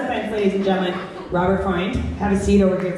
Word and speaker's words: Robert Freund: So my first speaker is Robert Freund.